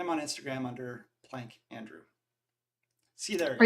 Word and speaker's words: Andrew: Andrew. Okay, so yeah, it's pronounced Andrew.